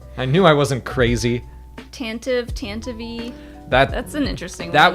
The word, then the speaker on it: Tantive: I like Tantive. Like when that came out to be how it's pronounced, I was like, oh, I kind of like that better.